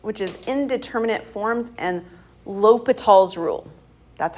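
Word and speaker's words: L'Hôpital: LOL it's a mathematician people like to say la Hospital there's no s in the middle right it's not hospital um it is Lal that's how we say his name so lal's rule all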